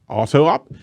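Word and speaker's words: Autoptimize: even pronounce it auto it's auto optimized but it's auto up it's not two different os uh have to say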